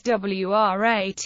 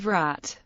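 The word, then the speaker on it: व्रत: Non-native speakers of Hindi might pronounce in as W, i.e., as WRAT instead of the more correct Vrat.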